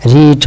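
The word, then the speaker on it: read: রিড মানে পড়া। রিড মানে পড়া এর পাস্ট ফর্মের উচ্চারণ কিন্তু রেড। যদিও বানানটা একই।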